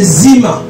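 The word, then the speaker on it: zimmah: En hébreu, dérèglement, c'est zima.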